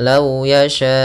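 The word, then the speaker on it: لو يشاء الله: adalah harakat kemudian kita cara bacanya Bagaimana Lau yasyaullah panjangkan empat harakat baru baca u-nya Kemudian pada lafal Allah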